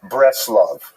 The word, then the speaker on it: Bratslav: And then he made his fame, really in the town known as Bratslav, not to be confused with Bratislava, and it's usually pronounced in Yiddish as Breslov. The Nurm Breslov is just a Yiddish, there are many of these.